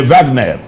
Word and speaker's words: Wagner: Oui, ça c'est l'élément déclencheur, mais c'est comme mercenaires, les Wagner. Donc on utilise le Rwanda comme le Wagner, je prononce en allemand, donc les mercenaires russes là, du moins comme nous les appelons en Occident.